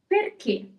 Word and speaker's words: perché: Fourth word, perché. Perché? With or without the accent? With the accent.